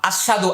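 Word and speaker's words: أشهد: হাদু দু ওয়া আসহাদু অনেকে আশহাদু আশাদু বলে আশদু সাধু বলে মারাত্মক ভুল আশহাদু আল্লা ইলাহা আশহাদু আল্লা ইলাহা বলেন ভুল তাহলে আমরা কি বলব আশাহাদু আল্লা ইলাহা ইল্লাল্লাহ তাহলে আমরা আশাদু বলে নাই কি বলছি এখানে হবে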